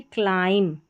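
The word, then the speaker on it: climb: फिर यहां पर देखिए क्लाइम। एम और बी लास्ट में आ रहा है।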